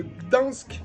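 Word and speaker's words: Gdańsk: Ensuite, l'album du groupe extrême de black metal de la ville de Gdansk, ça y est, je le prononce correctement, en Pologne.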